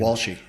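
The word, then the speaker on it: Walsh: Andy uh How do you say his last name? Wallshe. Wallshe, that's right.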